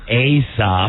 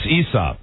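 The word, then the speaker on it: Aesop: asap's fables it's like it's not really like asop it's ESOP right should it should be E A is silent what do you want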